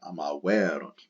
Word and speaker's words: amaverunt: Accent on the erunt, amaverunt.